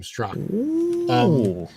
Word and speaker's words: Straka: Yeah, he pronounces his last name Straka.